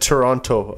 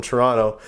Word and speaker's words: Toronto: not from Toronto because they say Toronto Toronto they say they get they drop a syllable they drop a t so they just go n o Toronto it's like Toronto it's like one I'm going to see